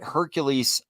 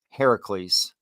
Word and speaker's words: Heracles: but you're saying it wrong it's not that Hercules also actually Heracles uh Al also rose from the dead but